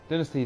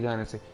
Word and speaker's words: dynasty: over 300 years ago Dynasty Dynasty you know I guess both are actual pronunciations of the word I guess I